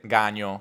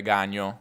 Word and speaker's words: gagno: Un gagno, un ga o con accento piemontese gagno, con la gn breve, gagno, un gagno.